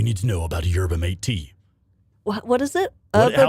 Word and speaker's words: yerba mate: It's yerba mate. I pronounce it yerba mate.